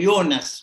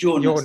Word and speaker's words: Jonas: صاحب نظرية الإله الضعيف اسمه يونس مش جونس لا ينطقون الجي. He's called Jonas, not Jonas, as we heard from some of our colleagues.